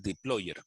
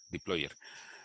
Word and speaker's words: dplyr: Pero es dplyr. Y creo que se pronuncia deployer.